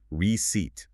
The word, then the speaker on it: receipt: The emphasis or the stress falls firmly on the second syllable. Listen closely. Receipt. Receipt, never receipt.